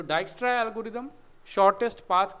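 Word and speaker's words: Dijkstra: ये डच नाम है थोड़ा सा, इसमें जे साइलेंट है, डाइक्स्ट्रा एल्गोरिदम।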